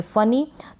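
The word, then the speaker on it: funny: पढेंगे इसको हम पढेंगे फनी तो यहां पर यह जो डबल एंड है इसका उच्चारण भी न होता है दो बार एंड है इसको हम पढेंगे नो फनी का मतलब होता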